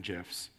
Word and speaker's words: GIF: You might make a social media service, and you might want to let people animate glittery unicorn GIFs. It is pronounced GIF, at the top of their page.